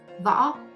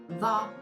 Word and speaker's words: Võ: It also a round shaped vowels, but when you pronounce it, you have to open your mouth a little bit bigger. O. With the V, we got Võ. Now adding the tone. Võ.